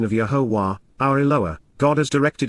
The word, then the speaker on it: Yahowah: grow and yield fruit, of Yahowah, the proper pronunciation of Yahowah, our Eloah, God has directed in his Torah,